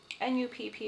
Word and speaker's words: Nupp: This is a different kind of way to do sort of a raised textural thing, and this is called a Nupp. It's spelled N-U-P-P, but it's pronounced Nupp.